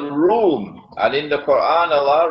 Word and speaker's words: روم: an alliance with room is spelled it is pronounced like R room but the Arabic word room is uh it describes Eastern Christian Christianity when